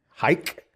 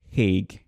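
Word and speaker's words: Haig: know the difference though you could discern which part of I am from based on how I pronounce my name it's a lose lose because if you're are Western Armenian and your name is H with the g h AIG G everyone reads your name as Hay all right and then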